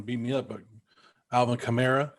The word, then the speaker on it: Kamara: me up but alvin kamara kamara there you go come here yeah like camaro i don't want to